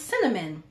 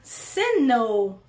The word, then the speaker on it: synonym: it really slowly, because how I say it, if I'm just talking, it's cinnamon. I pronounce the word synonym.